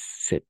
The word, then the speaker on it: cet: Entonces cet homme, pero es set porque es la excepción.